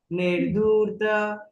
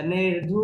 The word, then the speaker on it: निर्धूत: निर्धूत को थोड़ा खींचो, रेफ है ना, अगर आप निर्धूत छोड़ दोगे तो आपका कलिल आत्मन टूटेगा, देगा, ठीक है।